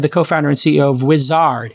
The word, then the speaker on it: Uizard: today we have the co-founder and CEO of wizard it's spelled u-i-z-a-r-d it's basically Jitter of AI you